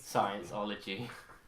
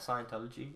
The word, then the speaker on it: Scientology: Scienceology. Scienceology. Isn't I'd love it? to pronounce it like that, just to like annoy a Scientologist. Isn't that Scientology? And like, we know how our fucking religion's called.